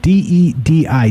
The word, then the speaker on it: Dedi: Dedi is his name, right? D-E-D-I, Dedi is how you pronounce it.